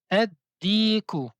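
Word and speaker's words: الديك: On dit ad diku. Ad diku.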